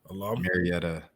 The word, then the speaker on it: Marietta: But I love for him to come on the pod and talk to us as you know, Maretta uh how do you say it? Marietta natives.